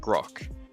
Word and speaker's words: Grosh: It's pronounced grok. Grok. Okay, so it's not a ch, it's just a k.